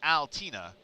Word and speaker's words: Altina: But if you're from the South, it's Altina. That's how you say his name.